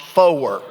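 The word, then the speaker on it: four: Next one rhymes with your lawn mower. It's pronounced fower.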